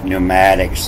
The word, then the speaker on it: pneumatics: start with a p pneumatics the winds and the p is silent and this is neo